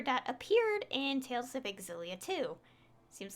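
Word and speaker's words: Xillia: exilia too you know what's interesting is it's pronounced exilia and not cilia and to even prefer to prove that i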